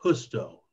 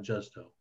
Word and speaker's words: Justo: And because he's a Latino writer, his name is pronounced Justo, not Justo.